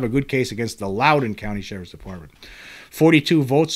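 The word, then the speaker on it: Loudoun: when I was doing the episode I was pronouncing it wrong somebody pointed out I was saying luden County it's actually Lowden County so I uh I made that dumb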